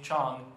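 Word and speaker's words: Zhang: in the senior class, Cici Chang, that's spelled Z-H-A-N-G, have begun to set academic goals.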